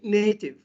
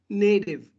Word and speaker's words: native: In British English, we say native. Okay, native language. But in American English, native. Why? Because T is located between two vowels, A and I. So we pronounce it like native.